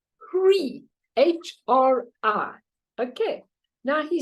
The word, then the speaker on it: Hri: So he said, say, in Guru Rinpoche, you have the seed syllable, and the seed syllable is called Hri, H-R-I.